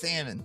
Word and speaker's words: salmon: Is it I always I laugh how salmon is Sal. It's It's spelled Salman, but you know, it's it's salmon, you know.